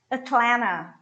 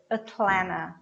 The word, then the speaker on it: Atlanta: fort lauderdale fort lauderdale atlanta atlanta the last tea is cut so what you say is atlanta atlanta now one that is